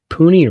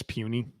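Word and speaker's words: Puni: took off Dominic pun is it puny or puny I would guess puny puny like tiny check I have pronunciation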